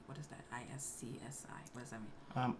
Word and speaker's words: iSCSI: Why are you saying iSCSI when it says I S C S I E? Yeah, it is iSCSI. S C. Yeah, that's That's That's how you say it.